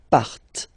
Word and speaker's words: partent: Remember, classic ending, ENT, but then you don't pronounce them, partent, partent.